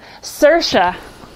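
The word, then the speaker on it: Saoirse: uhoh with sir sherona cersa rhymes with a nura anytime yeah anytime I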